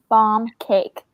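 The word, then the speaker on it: barm cake: called bomb bomb cake bomb cake like bomb like barn but with an m on the end and not bomb as in like lip balm like b-o-m b-a-l no b-a-r-m yeah okay and if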